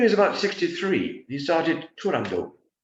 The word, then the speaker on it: Turandot: about 63 he started Toronto um never pronounce the final T himself the tragic events of